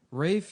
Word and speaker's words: Ralph: ] You What the How is an L gonna be an I sound, dude? Look at his whole name. Get this. Rafe Nathaniel Twistleton Wikingham Fines. Nuhuh. Yes. His name is Ralph.